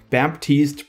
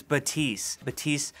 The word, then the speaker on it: Baptiste: According to Michael Chu, Baptiste pronounces the P.